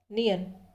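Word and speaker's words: 니은: दूसरा व्यंजन है नियन। नियन इसका उच्चारण होगा शब्दों में न।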